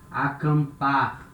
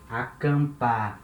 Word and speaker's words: acampar: And when letter M comes at the end of a syllable, for example, acampar, it's a verb, to camp. Acampar, here letter M at the end of a syllable, acampar. It has the nasal sound, and this nasal sound, it starts in the vowel that comes before.